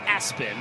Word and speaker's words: ESPN: It's pronounced Aspen, but on his birth certificate, it's ESPN.